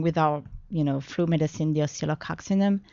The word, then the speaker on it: Oscillococcinum: day, and along with our flu medicine, the oscillococcinum. How do you pronounce that again?